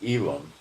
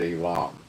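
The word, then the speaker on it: Elam: Hebrew, the prophet against Elilum. Okay? And you would more likely pronounce it alam. Okay. Elim is like New York English accent. Alam would be Hebrew, right?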